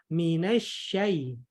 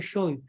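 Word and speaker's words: من الشيطان: Kemudian yang kedua, minasyai. Jadi buka ki mulut tak. Minasyai, bukan syoy. Kalau kita agak tutup mulut tak, nanti pasti akan terdengar syoy.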